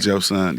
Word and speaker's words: Joseon: Joseon. Empire. S-E-O-N. Yeah. Joseon. Yeah, Joseon. Joseon. How you spell it again? Joseon. E-O-N. And they pronounce it Joseon.